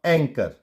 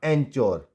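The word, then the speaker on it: anchor: नाउ एंकर, एंकर, एंकर नॉट एंचोर या एंचोर।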